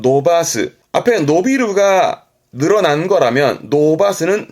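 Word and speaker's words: 伸ばす: 발음은 노바스.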